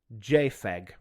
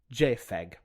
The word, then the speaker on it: JPEG: But the thing about that is the P is pronounced F because it's the first part of the two letters that make the F sound in photographic, Joint Photographic Experts Group.